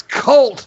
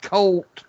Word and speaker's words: Colt: it's different than me it's cult not cold cult fault it's snappy oh